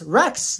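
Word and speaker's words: rechts: was like obis cuz they don't pronounce their RS there in Germany he was like Avis Lynx Rex Lynx Rex basically means left and right one month yeah I was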